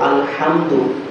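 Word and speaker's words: الحمد: আলিফ লাম জবর আল, হা মিম জবর হাম, দাল পেশ দু, আল হাম দু।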